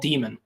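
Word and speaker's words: Diemen: Yes, it is very ironic to me that I'm literally in a town called Demon. That's how it's pronounced too, not how it's spelled.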